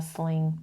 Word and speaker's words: sling: He should put on a sling or he should wear a sling.